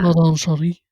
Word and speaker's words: Madame Sherri: So yeah, that's Madame Sherry Forrest, and when you say it, you have to say it like that. Madame Cherie.